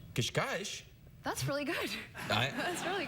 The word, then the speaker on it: Cascais: I grew up in a town called Cascais. Cascais?